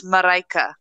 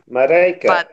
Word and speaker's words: Mareike: They all pronounce her name wrong. Her name is Mareike. Mareka.